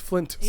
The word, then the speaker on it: Flintstones: I always did Flynn with no T, and it's Flintstones.